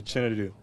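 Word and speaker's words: Chinedu: my middle name my first name is actually chinu chinu yes how do you spell that c h i n e duu and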